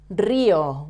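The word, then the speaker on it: río: The following word, Rio. Why do we stress the letter I? We say Rio, not Rio. Rio, because it has a written accent.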